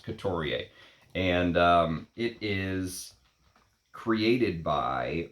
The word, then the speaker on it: Couturier: Let me learn my pronunciations. Couturier.